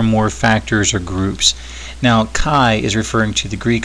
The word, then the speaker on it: chi: least two or more factors or groups now Chi is referring to the Greek small letter x which is again pronounced Chi and it's often referred to as the x